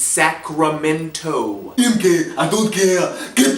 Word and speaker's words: Sacramento: pronounce the state capital I swear I heard him call it sack of Mentos one time sack of Mentos Arnold it's Sacramento MK I don't care